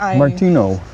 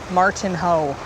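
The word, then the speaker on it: Martinho: Martino. This is the last of Martino. And it always comes from the mountains. It's funny because it's spelled like Martin Ho.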